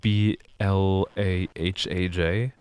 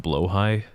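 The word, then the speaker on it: Blåhaj: think it's SP like b l a h AJ and one of the A's has like the little circle on it and everyone thinks it's pronounced blahaj but it's pronounced blo High you have your estate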